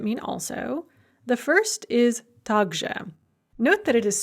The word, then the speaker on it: также: two words that mean also the first is tagja note that it is spelled tak zhao are both words in russian